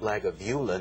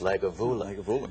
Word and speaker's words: Lagavulin: It's not Lagavulin, it's Lagavulin.